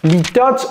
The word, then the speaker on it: litotes: Litotes en anglais, c'est litotes. Avec le S, litotes.